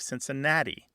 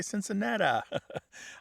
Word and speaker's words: Cincinnati: But what we really see here, it's not Missouri alone that is sometimes pronounced with that E becoming an There are other words that fall into this. Think of Cincinnati. Our Cincinnati college all going, yeah. Why do some people say Cincinnati?